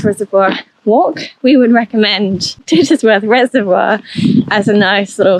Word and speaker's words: Tittesworth: so double check and ask how the like the name is pronounced and it is tits Worth Water so if you are